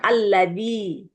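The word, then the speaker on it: الَّذِي: Kalau ada nun kecil kayak gini di awal, maka dia tidak dibaca nun kecilnya. Bacanya alladzi ya.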